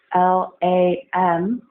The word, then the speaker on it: Lam: 10 times mantra is on alum plus on L a.m. and it's pronounced lam and this mantra is for the